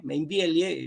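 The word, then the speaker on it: Meinvielle: el padre Julio Mainbiel, Mainbieli se escribe con él, Mainville, el apellido es de origen francés.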